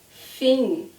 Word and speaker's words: fim: Fim. Say after me. Fim. Here's the word for you. Fim.